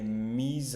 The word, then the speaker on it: mis: a été étudié et mise en mis en évidence mais j'attendais qu'il allait mise en évidence. Donc ça me me surprendre, ça me ça me ça me surprend qu'on ne prononce pas le S.